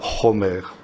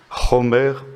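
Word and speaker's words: חומר: Et vous avez un mot proche du mot chamor, en hébreu, c'est le mot chomer. Ça s'écrit exactement de la même manière, ça se prononce simplement un tout petit peu différemment. Chomer au lieu de chamor.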